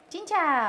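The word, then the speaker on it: cincau: Chin chow. There we are. Look, I actually pronounced the C as a ch.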